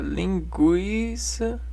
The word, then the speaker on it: linguiça: Se todavia o U for pronunciado, deixa de ser dígrafo. Por exemplo, na palavra linguiça.